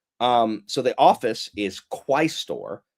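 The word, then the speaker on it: quaestor: this right here um so the office is quistor. It's not quester.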